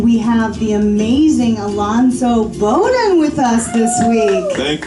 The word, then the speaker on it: Bodden: Joshua Snyder and we have the amazing Alonso bonan with us this week thank you for saying